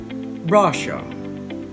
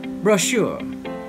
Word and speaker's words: brochure: second syllable debut debut number five in british english this word would be pronounced russia russia in american english the word would be pronounced brochure brochure as you can hear once again the stress is on the second syllable number six in british